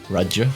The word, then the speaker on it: Rudge: Rudge? Rudge is right, yeah.